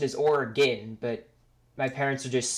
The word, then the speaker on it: Oregon: pronounce it the way I've heard some people pronounce it Oregon that's the way my family pronounces it but you know I we don't we know the pronunciation is organ but my parents are just so used to